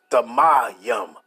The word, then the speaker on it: Thummim: That says Thamayim, right?